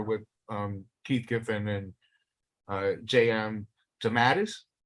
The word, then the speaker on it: DeMatteis: DeMatteis. How do you say it? DeMatteis. I use the Italian pronunciation.